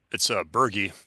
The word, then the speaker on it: Berge: It's Berge, not Burge.